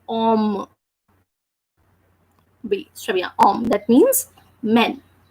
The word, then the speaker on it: homme: That's why we are not reading or we are not pronouncing the letter H, and we are just saying om.